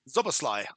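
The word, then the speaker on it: Szoboszlai: Can you pronounce his name? Who is their number eight? Zlay Zlasly.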